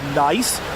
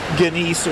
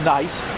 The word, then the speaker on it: gneiss: that's here is called nice it's spelled g NE I SS it's German so that's why it's spelled funny like that looks like it should be ginise or something like that